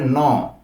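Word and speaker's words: no: সি অর্থ হ্যাঁ সি অর্থ হ্যাঁ এরপরে আসবে ন আসলে উচ্চারণটা হবে ন ওকে ন এরপরে আসবে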